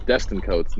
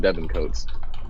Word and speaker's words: Destin Coates: It's Destin Coates, not Devin Coates, as the running back as well too.